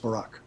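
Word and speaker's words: baraq: a r AQ it means lightning and it's pronounced Barack word 1116 in strong concordance is the word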